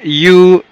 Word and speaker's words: new: لما نقول لك مثلا، لما اجي انا اقول لك مثلا I have a new pen، ال E W هنا بننطقهم U.